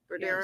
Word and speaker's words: Bodero: You said that Anthony Bodero, and am I pronouncing that right? Bodero? Yes.